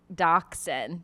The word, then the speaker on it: dachshund: Dachshund pronounced, dachshund, the official breed.